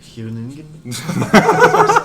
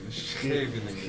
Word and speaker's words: Scheveningen: Can you Very pronounce nice. it, Fabiano? Huningen? Where's the beat? Oh wow, Don't that's a try it. strong move. Huningen? Scheveningen.